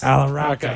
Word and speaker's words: Allahrakha: Allahrakha.